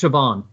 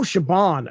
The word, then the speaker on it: Siobhan: So it's Siobhan. Oh, Siobhan. Okay. Siobhan Hannah?